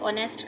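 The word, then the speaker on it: honest: read करते हैं तो ऑनेस्ट का हा जो है जब हम रीड करते हैं तो साइलेंट हो जाता है तो वो हमारे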